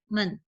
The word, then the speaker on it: 们: Men ini tidak ada nada, jadi kayak bacanya ringan. Tongxue men hao, tongxue men hao. Men mirip nada satu, tapi nggak sepanjang nada satu. Kalau nada satu kan men, ya. Tapi kalau tanpa nada itu biasanya bacanya agak cepat.